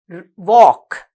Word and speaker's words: walk: walk, W-A-L-K. Remember that we have a silent letter when we write the word walk.